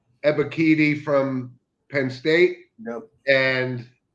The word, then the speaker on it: Ebiketie: They got always hard to pronounce, but it's Ebiketie from Penn State.